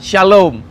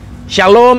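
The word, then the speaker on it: שלום: terdiri dari tiga huruf jadi Shalom itu berarti sebenarnya tingkat ia dalam bahasa Ibrani tidak ada huruf hidup tidak ada vokal hanya konsonan jadi hanya since rame dan memang jadi kita enggak tahu sebagai Bacanya apa tapi karena dan ikut jadi berbunyi jadi Shalom nah di dalam bahasa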